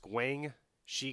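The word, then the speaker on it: Guangxi: that's what i would like to do it's pronounced guang shi click okay bear jew is a spy i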